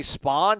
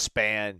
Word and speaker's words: Spann: be spam or uh did they say spawn during the yeah Fowler kept saying spawn oh it's span yeah it's Gotta Be it